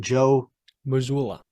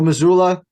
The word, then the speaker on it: Joe Mazzulla: Joe Mazzulla. Mazzulla, thank you. Joe Mazzulla, you've done a great job in the regular season.